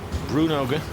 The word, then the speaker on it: Bruynooghe: Bruynooghe, as you pronounce it.